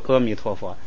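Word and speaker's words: 阿弥陀佛: 啊就变成了所以就阿弥陀佛。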